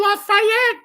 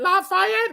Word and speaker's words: Lafayette: I'm gonna go to Lafayette and call it Lafayette when it's really supposed to be pronounced Lafayette, and talk about things like little chirping birds.